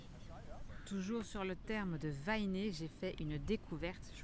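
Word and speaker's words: Waineʻe: Les consonnes sont prononcées de la même manière qu'en anglais, à l'exception du W, qui est souvent prononcé V au milieu d'un mot ou s'il vient après le E ou le Y. Donc ça devrait bien être Wainé. Ok, il est souvent prononcé V si il est au milieu ou devant blabla, ce qui n'est pas le cas de Vainé. Donc ça devrait être Wainé.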